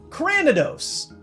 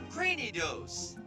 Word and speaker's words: Cranidos: about this one well I've seen c r a an before like cranberry right how about Cranidos cranos okay crane like Cranium cuz he's got that big head and Cranium means skull okay got it oh